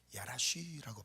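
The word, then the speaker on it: ירש: 그런데이 쫓아내다라는이 동사를 보니까 히브리어로 야라쉬라고 발음이요.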